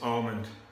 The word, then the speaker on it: almond: language we decide how to say it it's almond and it's aluminium put that in your pipe